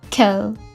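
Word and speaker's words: quel: singular singular or plural the pronunciation will be kel okay they don't have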